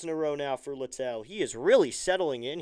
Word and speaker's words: Littell: And I think it is Littell because it is spelled, interestingly. The 1-1 is in the dirt ball too. Spelled Littell. So Littell. I think if it were Little, he'd probably say something and it would be Liddell then or something like